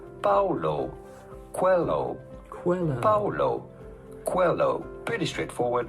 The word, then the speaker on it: Coelho: How do you go about pronouncing his name? Paulo Coelho.